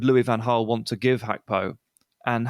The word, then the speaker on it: Gakpo: play and it's Cody hacko of the Netherlands and start with a little Service Announcement this is Cody gakpo but we found out recently that he pronounces his name as hacko which he's Dutch that